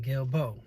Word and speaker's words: Guillebeaux: His last name was Guillebeaux. You know, he wasn't sure because of the way it was spelled, Guillebeaux, or something like that. But only that those that really know that was his name, Guillebeaux.